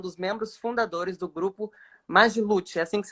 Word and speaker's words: Magiluth: Lucas é um dos membros fundadores do grupo magiluth assim que pronuncia mesmo mas mas hoje sendo responsável pelas